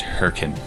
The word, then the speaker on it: Hurricane: Airstream and head to Hurricane pronounced hurrian for 3 weeks of